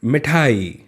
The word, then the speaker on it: मिठाई: साथ मिठाई बोलिए मिठाई अब देखिए मम्मी छोटी की मात्रा लगी इसलिए हमने इसे जल्दी से बोल दिया मिठाई अगर बड़ी ही लगी रहती तो क्या बोलते हैं मीठा ही है ना लेकिन तब उच्चारण गलत हो जाता है ठीक है तो इसलिए सही क्या है मिठाई है ना ठीक है